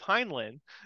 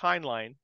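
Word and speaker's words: Heinlein: hline um like I always thought it was hinin but it's pronounced hin line so uh but um but yeah as far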